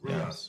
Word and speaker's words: RIAS: And then on the nonverbal, on the race, Rias, did I pronounce it all right? Rias, isn't it Rias? The nonverbal on the Rias? Rias, yes, Rias, I'm sorry, yes, was 60, correct?